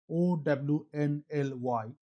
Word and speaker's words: Only: In August 2025, Rapido launched Only, which pronounced as OWNLY, in Bengaluru with a business model so simple it's actually genius.